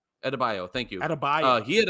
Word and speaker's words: Adebayo: Adobio. How do you say his name? Adebayo.